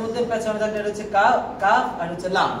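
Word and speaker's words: ق: পেঁচানো আছে এটার মধ্যে পেছনে থাকলে এটা হচ্ছে কাফ কাফ আর এটা হচ্ছে লাম যেমন লাম আর কাফ প্রায় কাছাকাছি লামের মধ্যে মাঝখানে কি থাকে না খালি পেঁচ থাকে না খালি থাকে আর কাফের মাঝখানে কি থাকে একটা হলো কফ আরেকটা হলো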